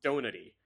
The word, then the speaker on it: Donati: Apparently, that's actually how it's pronounced. It is pronounced Donati.